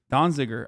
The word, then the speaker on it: Donziger: 45 days in prison as well um completely donziger i'm saying it right okay everybody shut up